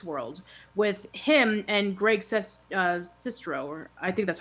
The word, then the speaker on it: Sestero: it is the rooms Tommy was sewing Greg Sestero that's how you pronounce it traveled the galaxy in the animated